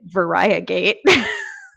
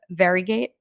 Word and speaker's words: Variegate: clearly been mispronouncing it because i've been calling it varia gate which is definitely not how it's pronounced and you guys said it's more of varigate yeah it's more fairy gate and if we were